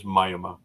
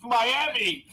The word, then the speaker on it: Miami: know Jay did have a comment it is Myoma so that's how they pronounce it yet in Klingon it's mayama in Latin it's mayama in Spanish it's oh don't get it oh it's Miami it's Miami Miami rest of the world is